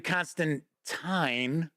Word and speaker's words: Constantine: uh okay so Constantine says I really don't care about the pronunciation of my name but we always pronounce it so it rhymed with twine gotcha very nice moving